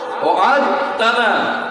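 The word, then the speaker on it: وعدتنا: ওয়া'আদতানা, এটা ছিল ওয়া'আদতানা, ইদগাম হওয়ার কারণে দালের উচ্চারণ নাই, ওয়া'আদতানা।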